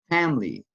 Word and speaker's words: family: Family. Family. Excellent. Letter I. It's not pronounced.